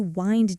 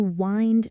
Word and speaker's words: wind: And the phrase to wind down, notice it's a phrasal verb. Wind here rhymes with mind, not with wind, the weather. To wind down.